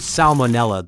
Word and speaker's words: salmonella: In the word salmonella, the first letter L is pronounced despite many English speakers tending to soften or skip it in casual speech.